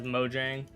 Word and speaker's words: Mojang: They were like, "It's not Mo Jang, it's Mo Yang." And like, "Shut up. Shut up, nerd." Um, however, I think technically speaking, they are correct. But also, I think a lot like I pretty much everyone pronounces it as Mojang.